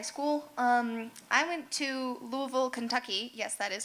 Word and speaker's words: Louisville: Montezuma Cortes High School um I went to Louisville Kentucky yes that is how you pronounce it to study spinal cord injury research